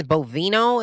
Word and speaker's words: Bovino: And what that man walks around, I think it's Bovino is how you say his name.